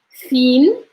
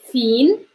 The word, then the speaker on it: fin: Try to notice the pronunciation. Imitate me. Like say after me. Fin, fin, fin. If you notice, is the if is like I see stronger. Fin, fin. The mouth movement is very important. This is how you're going to pronounce correctly. Fin, fin, fin, blasa.